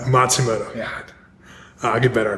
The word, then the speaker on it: Matsumoto: it's a good try how's it how's it pronounced it's uh Matsumoto Matsumoto yeah I get better I promise it's it's